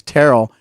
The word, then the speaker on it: Terrell: And he had to correct me and say, it's Terrell. Now, if you want to correct me on the pronunciation of first names, Chris, if you'd like to, reprimand me for yesterday.